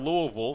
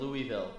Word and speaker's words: Louisville: it's now in - you kind of had that Midwestern pronunciation of Louisville I've always gone with Louisville just because that's how they say it down south you know - upstairs on